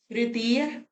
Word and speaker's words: तृतीय: आपको पता है तृतीय में री बनेगा, रा नहीं बनेगा, ये नहीं बनेगा, ये वाला बनेगा।